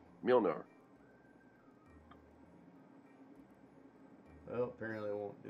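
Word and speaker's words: Mjölnir: So you take away Thor's hammer, Molinar, or how do we say? I said it wrong. Isn't it Mjolnir? God, I said it right earlier. Now I can't even think how to say it. It's Mjolnir, isn't it?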